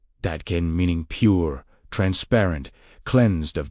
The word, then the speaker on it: Dadkein: Instead, He spoke of Dadkein, pronounced Dadkein, meaning pure, transparent, cleansed of distortion.